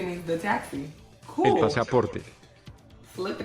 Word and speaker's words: pasaporte: Pasaporte. Roll your R. Pasaporte.